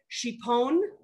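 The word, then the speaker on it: šipon: and northern croatia it's called shipon or sipon it's s with a with the little u above it um croatia also calls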